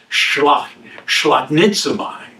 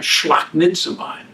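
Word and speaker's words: σπλαγχνίζομαι: All right, it's kind of like four syllables. Shlaknitzamai. All right, shlaknitzamai.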